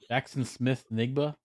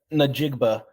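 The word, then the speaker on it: Smith-Njigba: Jackson Smith Nigba? Oh, no, Najigba.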